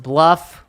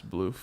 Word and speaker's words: BLUF: think it's supposed to be pronounced bluff. Ryan says bloof. It's Bloof.